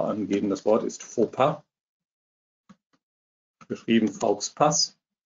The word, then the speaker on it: Fauxpas: Das Wort ist Fauxpas. Geschrieben Fauxpas. Das wird ungefähr so ausgesprochen. Wenn ich jetzt keine Aussprache angeben würde, würde Dragon von mir verlangen, dass ich Faux Pass sage.